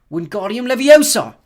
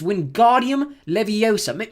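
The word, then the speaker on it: Wingardium Leviosa: "Wardium Leviosa!" he shouted, waving his long arms like a windmill. "You're saying it wrong!" Harry heard Hermione snap. "It's Windardium Leviosa. Make the gar nice and long.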